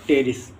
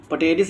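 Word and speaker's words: Pteris: Marsilea, ठीक है, और टेरिस। पटेरिस नहीं, इसको टेरिस पढ़ेंगे, ठीक है, पी साइलेंट है। जैसे पटेरिडोफाइट लिखते हैं वो पढ़ा क्या जाता है, टेरिडोफाइट, उसी तरह से टेरिस होता है, पटेरिस नहीं होता।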